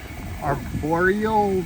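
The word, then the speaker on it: Arborio: Now we've got a cup here from home of arboreal rice, I think is how it's pronounced. Arboreal, no L.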